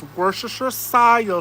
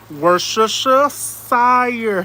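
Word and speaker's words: Worcestershire: I can't spell it, but I can say it. It's worashisher sire sauce. Worusha sire sauce.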